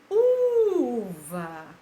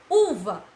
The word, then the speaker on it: uva: Uva. Uva. A tia demorou mais em qual? No U. Então, ela é paroxítona, porque a sílaba tônica dela é a penúltima.